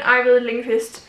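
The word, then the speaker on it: Ajvide Lindqvist: one in by er young ivan lingast i think is how you pronounce it that's at least that's how i pronounce it in danish i don't know what it's like in in swedish all i know is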